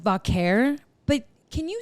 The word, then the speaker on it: Vaquer: I guess just said vakare but can you say it how you say it? Do you hear? Wait. Well, she rolls. Yeah. Really good. Vaker.